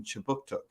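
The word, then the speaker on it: Kjipuktuk: right start newcomer services conducts business in chibuktuk which is how you say halifax and the migma language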